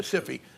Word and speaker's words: SIFI: systemically important financial institutions by the normal words of english rules of english pronunciation if it's a single consonant the vowel is long if it's a double consonant the vowel is short so sifi should be pronounced sci-fi but that was taken so that's why it's called the ciphy i mean